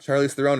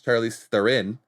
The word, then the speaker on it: Charlize Theron: There was Charlize Theron. It's not Charlize Theron, it's Charlize Theron.